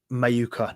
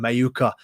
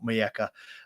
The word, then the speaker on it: Mayuka: it was mcne or mayuka not MOA sorry this time this stream I am not going to say his name wrong every single time mayuka not Maya um but a lot